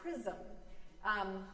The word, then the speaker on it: Chisholm: I discussed a lesser-known hero of Black history last Sunday, but I mispronounced her name. It's Shirley Chisholm.